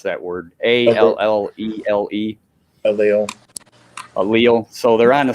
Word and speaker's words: allele: They're on the same they're on the same ally, or I don't know how to pronounce that word. Allele.